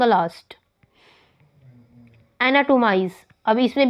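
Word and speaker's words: anatomize: एनाटोमाइज, अब इसमें भी ऑन the third syllable from the last.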